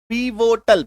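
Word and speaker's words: pivotal: पप्पा मौर्या चलिए देखते हैं सबसे पहला शब्द पी वोटल पी आई वी O till उच्चारण देखिए पीवोटल इसका मतलब क्या होता है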